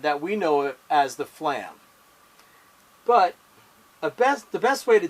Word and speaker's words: flam: Now, it's important that you don't do this. That's not a flam. Fa-lam. That's wrong. Fa-lam. That word is not pronounced like that. You say flam.